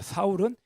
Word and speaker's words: 사울: 사울은 히브리식 발음이고요, 바울은 헬라식 발음입니다. 이름이 바뀐 것이 아니에요. 표현이 다른 것뿐입니다.